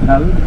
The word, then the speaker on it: Tel: Yeah, we pronounce it Tel with an A, but you may find it written with an E in some places, Tel, because the archaeologists who work in the tells, they pronounce it as Tel usually in their dialect. But in the local dialect, it's spelled with an A, like written like T-A-L, Tel.